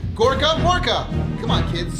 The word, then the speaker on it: Gorkamorka: You get what's called Gorkamorka. That's right, I said it right. Gorkamorka.